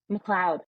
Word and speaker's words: McLeod: Okay, the guy that you co-wrote with, how do you say his last name? Matt McLeod. McLeod. Okay, that's not how Mm-hmm. you spell McLeod. Please tell him that I said that. It's not phonetic, that's for sure.